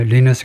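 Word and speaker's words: Lynas: 제가 자꾸 발음을 중요시해서 하는 걸 눈치고 이제 라이스라고 읽네요. Linus linus Linus rare earth limited is an Australian mining and company and one of the largest process 중국을 외는요.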